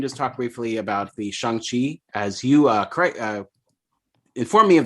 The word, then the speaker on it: Shang-Chi: Keeping things Marvel, we can just talk briefly about the Shang-Chi, as you inform me of the correct pronunciation, or at least the way Kevin Feige says it, which is Shang-Chi.